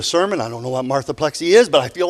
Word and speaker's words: marthaplexy: in the room have it's a complicated disease it's spelled m-a-r-t-h-a-p-l-e-x-y and it's pronounced marthaplexy and some of us